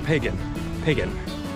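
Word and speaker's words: Piegan: Pronounced very much like the Druid religion, Pagan Trail.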